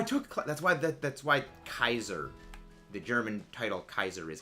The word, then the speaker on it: Caesar: name should be pronounced Kaiser because that's how the actual name was pronounced back in Latin because it only ever made the hard C Sound not the S sound and uh AE was